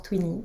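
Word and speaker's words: Tvinni: Ça s'écrit Dvini, mais on a appris récemment que ça se prononce Twinny.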